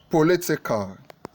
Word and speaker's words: political: party for a 95 political political is it political is it political is it the the appropriate stress for political is actually the the the St for political is in the second syllable Poli IAL satisfactory satisfactory